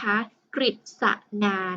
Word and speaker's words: กฤษณา: ถาม ข้อ ที่ สอง คำ ใน ข้อ ใด คะ ที่ อ่าน ออก เสียง ว่า ริ อ่าน ก ไก่ กฤษนา ขอ ไข่ คฤหาสน์ คอควาย พฤติกรรม คุณ ครู อาทิตย์ ฟัง แล้ว นะ คะ เด็ก ๆ พอ จะ ตอบ เป็น ได้ ไหม เอ่ย ถูก ต้อง ค่า ตอบ ข้อ ก ไก่ นะ คะ กฤษณา นะ คะ เพราะ ว่า ขอ ไข่ และ คอ ควาย ออก เสียง รึ นะ คะ ต่อ ไป